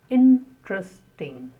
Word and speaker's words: interesting: Interesting. That's an interesting topic. The stress on the first syllable. Interesting.